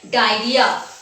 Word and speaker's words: diarrhoea: DIARRHOEA, and it is pronounced as diarrhea. This is diarrhea, and this disease is occurred when we eat infected food or consume infected water.